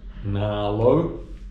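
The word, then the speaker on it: Nghĩa Lộ: Okay, finally made it to the middle of nowhere, which I think it's pronounced Na Lo, and it is in the middle of nowhere.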